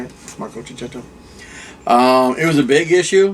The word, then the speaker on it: Checchetto: I checked, that's how you say it, Marco Cicchetto.